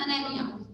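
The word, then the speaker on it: anemia: एनीमिया, और उसका right pronunciation is अनेमिया, ठीक है।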